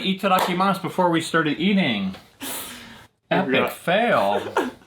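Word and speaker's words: いただきます: to say itadakimasu itadakimasu it's also five syllables ready eat it mouth itadakimasu looking mouth they sound exactly the same don't they you can get away with it that's the way to remember it five syllable words are tough I'm a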